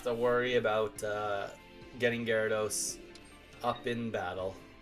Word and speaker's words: Gyarados: yeah Gyarados I mean it could be gyrados but like I'm pretty sure in the TV show they pronounce it Gyarados so I've always just stuck with that for gyro dude Gyros